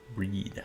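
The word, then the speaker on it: Bríd: Bridget famous Irish Saints pronounced along e similar to the English word breed breed uh but final D is like the D and Bridget almost a j sound oh preach castlebar is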